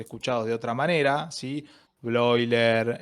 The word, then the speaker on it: Bleuler: Sí, bloiler. Eh, que blauler o bloiler, yo se escribe bleuler.